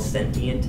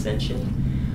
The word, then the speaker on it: sentient: It's called sentient. S N T I E N T. Can also be pronounced sensient.